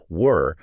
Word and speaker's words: were: Like were often uses that relaxed schwa sound that we were talking about earlier. Yeah. While where has a more distinct uh dip thong, like a combination of two vowel sounds.